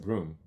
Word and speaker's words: Boehm: She is Michaela Broom. I pronounce it Broom. Is that? I could be wrong. Yeah. As in Broom.